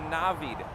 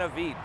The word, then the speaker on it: Navid: way just real quick my name is pronounced a navid not an evite so if i'm going